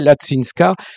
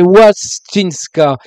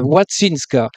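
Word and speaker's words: Łączyńska: donc il faut le le l barré se prononce wou bon alors ça fait wattinska c'est C Z ça fait t hein t alors watinska voilà son nom de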